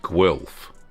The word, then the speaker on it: Guelph: Patricia's mentioned that Guelph is pronounced Guelph.